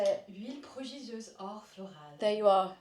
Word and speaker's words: Huile prodigieuse: Huile prodigieuse or florale.